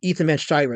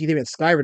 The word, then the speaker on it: Ethan Van Sciver: Meyer and Ethan Van Sciver. Okay, so first of all, she mispronounces Ethan's name. She calls him Ethan Van Sciver. That's wrong. It's Ethan Van Sciver, number one.